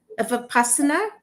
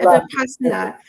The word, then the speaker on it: Vipassana: So, Barbara, you pronounce it for me, please. Vipassana? Oh, Vipassana. Yeah. Okay, Vipassana.